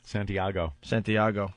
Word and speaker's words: Santiago: When I read this, I thought it was two dopey DJs in Santiago. Where is it? Chile. Chile. Santiago.